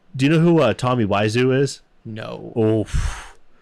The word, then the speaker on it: Wiseau: It's like Oiseu or something like that, and he puts a W in front of it, but it's pronounced Wiseau.